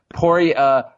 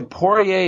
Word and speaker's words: Poirier: Poirier, so Poirier is half right. It should actually be Poirier, if we're being, correct.